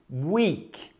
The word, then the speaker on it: weak: Weak. Fraco. Ah, a pronúncia parece com a palavra week, semana. Sim, a mesma pronúncia.